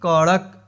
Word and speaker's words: कड़क: कड़क। ड को ड नहीं, इसको ड़ उच्चारण होता है, र नहीं, ड़ ड़ ड़, कड़क।